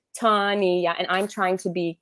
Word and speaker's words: Tanya: tell me she's like your name is tawny yeah three syllables tanya and i'm trying to